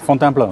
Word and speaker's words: Fontainebleau: Tomorrow morning I'm leaving for Fontainebleau, is that it? How do you say it? Fontainebleau, yeah.